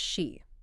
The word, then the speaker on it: 詩: So the character is pronounced she.